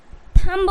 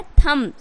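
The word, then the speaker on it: thumb: तरीके से क्या है थंब बोल देंगे टी एच यू एम बी थंब बट यहां पे क्या है थम यानी बी जो है वो गाइस साइलेंट है तो क्या हो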